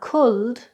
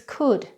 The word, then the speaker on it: could: So these are often mispronounced as well it's not sholde it should it's not culd it's could, it's not would it's wood